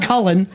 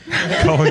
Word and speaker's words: Colin: It's not Cullen. Colin Quinn.